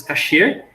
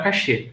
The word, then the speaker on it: cache: inglês dentro do francês casher significa esconder esconder e se pronuncia memória Cash tá não é memória cache tá bom se vocês ir